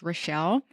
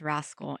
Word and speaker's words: Raschel: I am a fan of it, even though it's spelled Raschel, pronounced Rochelle. I tell my parents, I mean, phonetically, it could be pronounced rascal.